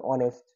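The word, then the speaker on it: honest: এইচ এর উচ্চারণ এইচ এর উচ্চারণ এইচ এর উচ্চারণটা যদি সরে ওয়া সরে আঁ এর মত হয় যেমন অনেস্ট হ্যাঁ তারপরে হেয়ার এগুলো থাকলে কিন্তু এন বসাবা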